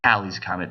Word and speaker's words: Halley's Comet: to a real example halley's comet and it pronounced halley's comet by the way this is one of those